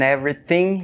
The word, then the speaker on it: everything: Próxima frase, in everything you do. In everything you do. Difícil pronunciar essa, né? Everything, tem aquele TH, né? Tu.